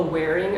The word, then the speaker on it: Whering: It's called the Wearing app, and I've been using this to basically be able to like see everything that I own. It's spelled WHERING, and that's also how I've been putting together my outfits.